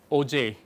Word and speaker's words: Auger: So, that is a big advantage of OJ spectroscopy. It is spelled AUGER, not OJ.